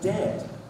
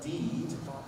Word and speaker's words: dead: And dead, it's said like bed, not bead. For goodness sake, don't call it deed.